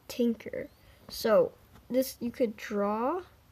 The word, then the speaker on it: Tynker: like what app is this this is called tinker so this you could draw you could draw